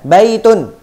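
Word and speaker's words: بيتٌ: membacanya pun juga berbeda Kalau tidak ada alif lam Nya maka kita tanwin kan di sana baitun tapi tatkala dia kemasukan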